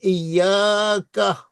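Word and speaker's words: إِيَّاكَ: یا کا یا ایا میں یہاں پر بھی تشدید ہونی چاہیے. ایا کا نہ بدو، اس کے لیے بھی بہت غلط تلفظ ہوتے ہیں، لیکن مہربانی فرما کر نہ بدو، ایاک نعبدو و ایاک نستعین.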